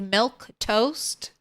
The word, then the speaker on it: Milquetoast: Do you just say it like milk toast?